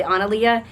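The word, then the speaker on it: Annalea: I didn't want to be associated with that, but I would have pronounced it probably Analia.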